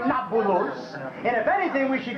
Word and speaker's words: Nablus: an arab name when the romans expelled the jews from our country they changed the name of shechem to napolus as in naples the arabs have trouble pronouncing a peace so nakulus became nabulous and if anything we